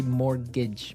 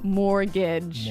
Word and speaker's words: mortgage: Yeah, it has a T in it, but you don't pronounce it. You say mortgage. Mortgage. So not mortgage. Not mortgage. Mortgage.